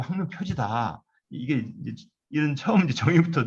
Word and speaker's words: 항로표지: 왜냐하면 지식할 때 식자로 읽는데 항로표지라 읽을 때만 이 식을 지라고 읽습니다. 우리가 유설이라 읽지 않고 유설이라 읽듯이 이 중요한 몇 글자가 있습니다. 한자가. 그렇듯이 원래 항로표식이라 읽으면 안 되고 항로표지다.